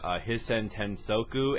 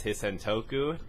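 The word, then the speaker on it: Hisoutensoku: Frenetic mispronounced Toho game Hisen Tensoku as Hisen Toku.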